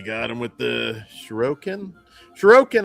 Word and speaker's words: Shuriken: Shuriken, I believe, is how you pronounce it, or at least that's how I always have.